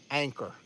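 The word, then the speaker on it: Anker: Anchor. A-N-K-E-R. It wasn't spelled the same way, but it sounded like. It was really cool. So, Anchor, if you're watching tonight, cool name of the week.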